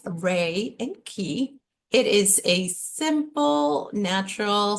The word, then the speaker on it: Reiki: Pronounced Rei and Ki.